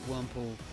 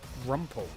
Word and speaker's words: Wurmple: To be fair, Pokemon taught you a lot about spelling and pronouncing as a kid. Interesting, you used to call Wurmple Rumpel.